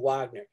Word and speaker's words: Wagner: Or Wagner, because I'm not German. That's how I pronounce it. It's supposed to be Wagner because the V is supposed to be like a B.